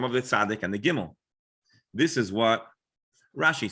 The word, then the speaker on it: gimel: Gimel.